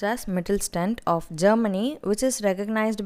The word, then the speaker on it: Mittelstand: This should be pronounced as Mittelstand of Germany, which is recognized by world for manufacturing metal equipments.